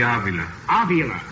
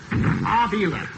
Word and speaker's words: Avila: Do I pronounce that right? Yeah, this is right pronunciation of my name, Frankie. Let me have that again, please. Avila. Avila.